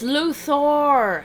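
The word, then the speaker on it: Luthor: It's Luor. Luor. Stop mispronouncing his name.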